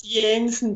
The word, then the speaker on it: Janssen: It's Jensen then. Yeah, I knew it. I knew it wasn't going to be a hard J.